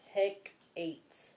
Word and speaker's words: Hecate: That is Hecate. Goddess Hecate. Hecate. Hekate. So he and Kate. He Kate. But I don't think it's said like that. But you got loss, wrath, and Hecate. Hecate. Like heck.